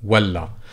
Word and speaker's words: ولا: But this is walla, so this is slightly lighter, whereas walla is emphatic L.